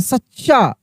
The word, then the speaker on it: सच्चा: तो देखिए इसमें जो होता है ना, जब सेम अक्षर एक आधा होता है एक पूरा होता है तो उच्चारण में क्या होता है? जोर लगता है। सच्चा, चा, इस तरीके से हम लोग बोल रहे हैं, यानी एक आधा च है एक पूरा च है।